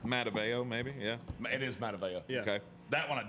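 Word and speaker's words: Matavao: It's Mataveo, pronounced but- weird. Mataveo, maybe, yeah. It is Mataveo.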